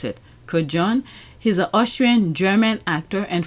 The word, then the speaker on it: Kodjoe: How do you pronounce it? Kodjoe.